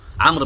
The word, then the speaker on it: عمرو: الغريب ده عمرو وده عمر، يعني حتى عمرو بتتنطق عين ميم ر بس بتكتب فيه واو كده.